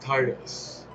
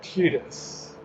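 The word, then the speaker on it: Tidus: example final fantasy 10 to this day pronounced titus but i have heard through some rather reliable sources that is actually tedious and i have still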